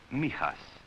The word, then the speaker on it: Mijas: It is pronounced Mijas.